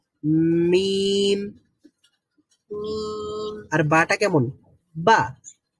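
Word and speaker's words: ب: বা, বা। তো বাটা হলো ঠোঁট খোলার সাথে সাথে সাউন্ড বের হয়, আর মিম হচ্ছে ঠোঁট খোলার আগে থেকেই সাউন্ড প্রডিউস হয়।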